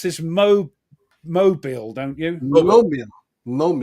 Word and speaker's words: Mobile: Now you pronounce this Mobile, don't you?